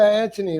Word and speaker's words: Antoni: Yeah, Anthony, like Mark Anthony.